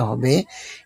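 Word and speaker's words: ح: এটি আমাদের কণ্ঠনালীর ঠিক মাঝখান থেকে একটু চাপ দিয়ে বের করতে হবে। এমন ভাবে বলুন যেন একটা স্বচ্ছ বাতাস বের হচ্ছে, যেমন হা হা।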